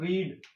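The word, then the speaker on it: read: तीनों सेम होती है लेकिन इसका प्रोनाउंसिएशन थोड़ा सा डिफरेंस है, रेड हम इसको बोलेंगे रेड, रीड रेड रीड, ये हमारा रीड होगा, ये रेड होगा, और ये रीड होगा, रीड रीड, रेड, रीड, यानी प्रोनाउंसिएशन यहाँ पे चेंज है, बाकी स्पेलिंग तीनों की सेम है।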